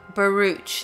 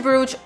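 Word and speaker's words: Baruch: pronounce his surname but in the transcripts he actually is asked to pronounce it and then they very helpfully written it out as baruj so if anyone thinks I'm mispronouncing it that's how mr. Burrage himself directed the court to refer to him so just so we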